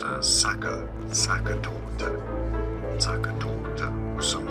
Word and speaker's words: Sachertorte: Austrian, German pronunciation. Sachertorte. Okay, yes, I know in English it's not generally pronounced this way. It's often pronounced as Sachertorte.